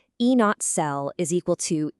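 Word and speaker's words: E°cell: You'd read this one out loud as E not cell is equal to E not cathode minus E not an anode.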